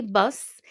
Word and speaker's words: bus: Bus stop, un arrêt de bus. Un arrêt de bus. So for bus, we do pronounce the S at the end.